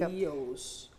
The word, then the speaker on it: pastelillos: Pastelillos. Did I say it right? Pastelillitos. That's a debate in Puerto Rico, but I say pastelillitos.